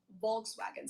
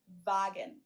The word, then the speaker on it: Volkswagen: be pronounced and not Volkswagen. So just imagine that it was spelled with an F and V instead. Fagen.